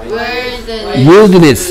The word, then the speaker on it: wilderness: Wilderness 라고요. Wilderness. Wilderness 가 아니고 Wilderness. 아이가 발음이 있는 건가? 그래서 여기에 Wild 할 때 I의 발음은? 오케이, 여기 I의 발음은? E.